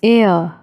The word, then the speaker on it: er: He is called er in German, pronounced as er.